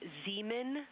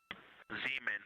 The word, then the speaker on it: Zeeman: We believe that that is Zeeman crater. Zeeman. Okay, and can you say the first letter? I may be pronouncing that wrong.